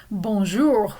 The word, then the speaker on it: bonjour: Bonjour, we pronounce the R.